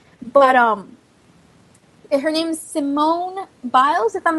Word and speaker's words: Simone Biles: on her performance but um it her name's Simone biles if i'm not mistaken i hope i pronounced her name correct you did okay cool